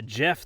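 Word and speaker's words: Geoff: on this thing uh Jeff the god of biscuits I am the god of biscuits even though it's spelled g e o FF which is perfect because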